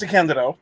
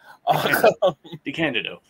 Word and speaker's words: DeCandido: And it's pronounced DeCandido, just by the way. DeCandido.